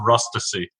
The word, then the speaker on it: Rustici: the last name but it's actually pronounced rust to see rusty yes and then